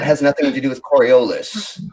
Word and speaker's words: Coriolis: Coriolis is the proper pronunciation, but the Coriolis effect.